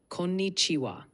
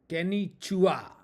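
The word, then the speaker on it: こんにちは: Konnichiwa. The KO is short. Ni is pronounced like ni. Chiwa sounds like chiwa. Give it another try. Konnichiwa.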